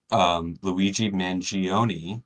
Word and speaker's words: Luigi Mangione: Um, we have just we're in the very beginning of this news story, this thing that happened, which is Luigi Mangione. Am I pronouncing it right?